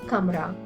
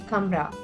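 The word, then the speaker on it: कमरा: madra in that case the letter has to be pronounced as a half letter and that's why we pronounce it as camra.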